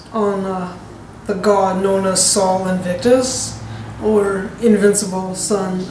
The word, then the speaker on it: Sol Invictus: And some of the emphasis was on the god known as Sol Invictus, or Invincible Sun. It's spelled S-O-L, Invictus.